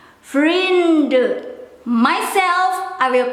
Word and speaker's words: vrienden: For myself, I will pronounce the letter N in order to skip the silly mistake when I have to write.